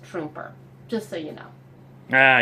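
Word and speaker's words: Truemper: also one other thing my husband kept calling it trumpeter Street but I believe it's pronounced trooper just so you know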